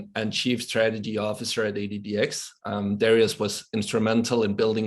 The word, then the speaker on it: ADDX: I'm the co-founder and chief strategy officer of ADDX. and that's how we pronounce it over here.